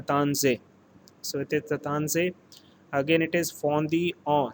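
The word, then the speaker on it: Taittinger: has been given and this particular letter is pronounced as tatansay again i am repeating this particular letter is pronounced as the tanzai so it is the tan say again it is fondi on 1734 so this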